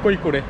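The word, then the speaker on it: കോഴിക്കോട്: da Gama 1498 কালীকট এখানে সাধারণত কড়ি করে বলে নামে চেনে কড়ি করে মানে এখানকার লোকাল উচ্চারণে সাধারণত বলে কই করে তো আমাদের লক্ষ্য কৈকুড়ের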